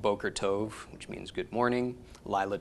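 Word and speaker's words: טוב: So altogether, this is pronounced tov.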